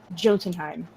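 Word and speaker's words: Jotunheim: winter learning the brutal way of life in Jotun time I don't think I pronounced that right it I did sweet but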